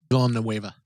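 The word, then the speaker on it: Villeneuve: Written and directed by, I'm going to butcher the name, Dennis, how do you say his last name? Villanueva.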